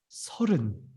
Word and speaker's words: 서른: But for the pronunciation with the R, we don't have a R sound in the Korea, so you can just say 서른.